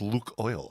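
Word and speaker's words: Lukoil: called LC oil L hello my name is Luke oil um sounds like a villain right so anyway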